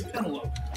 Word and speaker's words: Penelope: Also, you pronounce her name very weirdly. You say Penelope? That's what it sounded like. Come on, Ricky, it's Penelope.